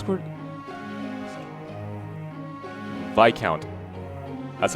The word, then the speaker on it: viscount: God, how you pronounce the word? Viscount.